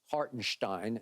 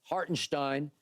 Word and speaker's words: Hartenstein: dribble dribble dribble okay and to your point hartenstein is how it's supposed to be pronounced okay hartenstein they're not gonna be able to keep him